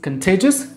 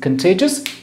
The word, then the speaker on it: contagious: Okay, next word is contagious. The pronunciation of this word is contagious, not contagious or something. Contagious.